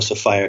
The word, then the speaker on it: Sophia: was a goddess called Sophia. I call her Sophia. Okay. And you can call her Sophia if you like, but I call her Sophia because it rhymes with desire.